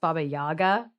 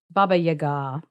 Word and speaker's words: Baba Yaga: I always forget that her name is like it's not pronounced Baba Yaga. And I'm like I had a Russian woman uh correct me and so I need to fix myself.